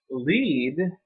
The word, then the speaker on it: lead: now jump lead so when it rhymes with deed it's a verb when it rhymes with dead it's a noun okay but lead is to go I will lead the way or to